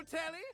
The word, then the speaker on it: Telly: The name's Tell rhymes with Nelly. Like, whoa, Nelly. Did you know Telly offers 5,000 channels like an endless deli?